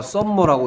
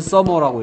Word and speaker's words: summer: 하여튼, 얘를 읽어보라 그랬는데, 어떤 애가 썸머라고 읽었다가 F 맞았어요. 오케이. 얘는 써머라고 읽어야 되거든.